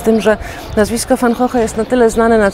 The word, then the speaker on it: van Gogh: je po polsku, bo w oryginale nazwisko Wincenta brzmi Fan Hoch, czyli co najmniej dwa dźwięki realizujemy w sposób inny niż jest to właściwe dla języka oryginału.